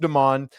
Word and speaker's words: Demon: It's spelled like demon, but it's pronounced Damon.